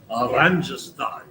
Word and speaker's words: Oranjestad: And for Dennis, I had to learn how to pronounce Oranjestad. That's in Aruba. They roll the R's here, just like they do in Italian, only it's Dutch, of course.